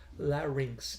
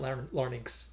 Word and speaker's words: larynx: unintentionally lowered his larynx larynx the most mispronounced word probably in the singer's lexicon la rings not learning a lot of different